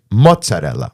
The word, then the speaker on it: mozzarella: but the real true pronunciation is mozzarella. Mozzarella. Mozzarella. the Neapolitan dialect pronunciation. So the Italian Americans who immigrated from Naples.